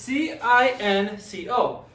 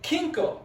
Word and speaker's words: cinco: If you look at this, it's CINCO. But you don't say it like kinko. This is one of those words where the C sounds like an S. So it's pronounced cinco.